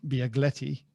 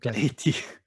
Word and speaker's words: Bialetti: In the US, the one that you pronounce better than me, the Biagletti. Biagletti. Bialetti.